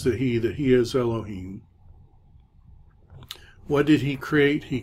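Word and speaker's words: אלהים: Segel yeah lo keem so that's not a vowel that's part of the cantillation marks so we get ya lo heme yet Boyet is our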